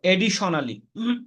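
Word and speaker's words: additionally: তো এডিশনালি, এটা এডিশনালি, এল লাস্টে দুইটা আছে ও এর আগে, এখানে একটার উচ্চারণ হবে, আরেকটা সাইলেন্ট থাকবে।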